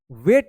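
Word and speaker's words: weight: यहां पर भी देखिए ई आई है। और आई के बाद यहां पर देखिए जी एच भी है तो जी एच तो ऐसे भी साइलेंट रहेगा।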